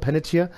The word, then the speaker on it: Panettiere: Haben wir das richtig ausgesprochen, Panettiere?